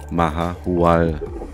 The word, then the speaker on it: Mahahual: So Freunde, und jetzt noch einmal richtig ausgesprochen. Der Ortsname heißt nämlich Mahuahal.